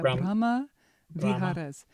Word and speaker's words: Brahma Viharas: I think I never was as clear about how it all fits together into the four Brahma Viharas. Is that how you say it? Yeah. Brahma Viharas.